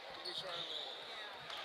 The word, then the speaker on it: Desjardins: That's French. It's Desjardins.